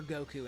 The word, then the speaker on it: Goku: Goku day is celebrated on May 9th each year primarily in Japan because the numbers five and nine are pronounced go and coup respectively in Japanese which together obviously form Goku.